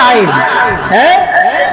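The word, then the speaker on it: ع: এই জায়গাটির নাম হল হল হলকের মাঝখান থেকে উচ্চারণ হয় আইন আইন বলেন আইন এত খান আইন এত জোরে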